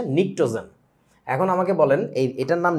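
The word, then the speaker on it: pnictogen: silent সথিং পিনিটোজেন জিনিসটার উচ্চারণটা হবে হচ্ছে নিক্টোজেন এখন আমাকে বলেন এটার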